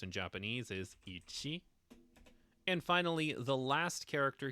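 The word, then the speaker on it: 一: should be pretty self-explanatory but the way it's pronounced in Japanese is Ichi and finally the last character here is going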